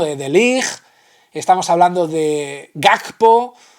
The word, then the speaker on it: Gakpo: Estamos hablando de Ligt, estamos hablando de Gakpo, que dicen que se pronuncia así, y luego lesiones físicas